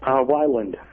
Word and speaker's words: Weiland: do we say your name Whelan or Weiland? How do you say your name? Weiland.